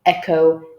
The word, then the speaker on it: echo: draw students' attention that not always the CH sounds in English will be pronounced as ch. Very often they could be pronounced as k, as is the case with all the 6 words in this handout.